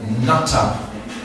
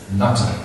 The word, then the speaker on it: Jnana: And then the second one is called Natta. J-N-A-T-A, like Jnananatta, like Natta is pronounced.